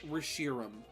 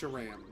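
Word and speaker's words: Reshiram: Is it pronounced Rasham or is it pronounced Rashirum?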